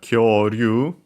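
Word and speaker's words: 恐竜: Unaccented, it means a dinosaur.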